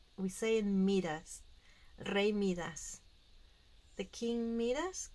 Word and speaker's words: Midas: Midas or Midas, how you say it in English? We say it Midas.